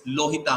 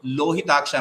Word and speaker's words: lohita: but there is a there is a usage of replacing la with so rohit a also is a possibility rohit means red lohit means red rohit is replacing with okay so lohit a means one who is